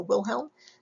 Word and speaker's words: Wilhelm: So after you put WIL down, think skirt with hemline or helm of a ship, and hopefully you'll go the helm of the ship, so Wilhelm, W-I-L-H-E-L-M, and last name, W-U-N-D-T.